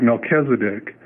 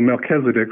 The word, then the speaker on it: Melchizedek: to pronounce words like Melchizedek now it looks like it's Melchisedec but it's not because it's not English it's a Hebrew word so that CH is pronounced like a K so Melchizedek so you did a